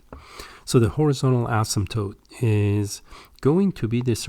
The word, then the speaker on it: asymptote: The floor technically is called a horizontal asymptote. The P, by the way, here is silent. That means you don't pronounce it when you say this. Some call it asymptote, but usually people call them asymptote.